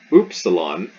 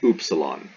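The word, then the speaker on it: ύψιλον: does also become the oopsilon so simple like epsilon this is oops salon it's epsilon simple you simple you as opposed to complicated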